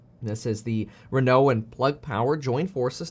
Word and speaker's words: Renault: company renault and that's spelled renault but it's pronounced renault now let's take a look at that partnership